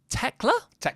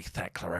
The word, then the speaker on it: Tekla: And Tekla? Oh, I want to say Thekla every time because that's how it's spelt.